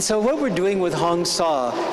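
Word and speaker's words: Hong-Sau: what we're doing with honga it's a simple Mantra honga h o n g like rhyming with gong and saw like sawing aboard s auau again a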